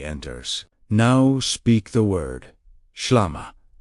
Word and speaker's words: shlama: Now speak the word shlama. Say it slowly. Shlama. Feel the first syllable open the upper chest.